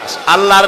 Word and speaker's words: আল্লাহ: তাকাও আমার জমিনের দিকে আল্লাহর নাম আল্লাহ বলেন তো আল্লাহ আল্লাহ নয় কিন্তু আল্লাহ হচ্ছে অশুদ্ধ শুদ্ধ হচ্ছে আল্লাহ বলার সময় মুখটা গোল হয়ে যাবে বলেন তো সবাই উচ্চারণ